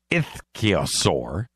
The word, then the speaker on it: ichthyosaur: Identified as an extinct ichthyosaur, that's how you say it, I checked it